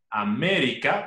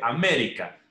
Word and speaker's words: América: Ejemplo de palabras esdrújulas. América, fíjense, América. La última sílaba sería K, la penúltima RI y la antepenúltima MI.